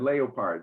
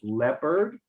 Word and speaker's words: leopard: So it's leopard, All right, if you were to do every vowel, it would be, as you said, leopard, but no, it's leopard.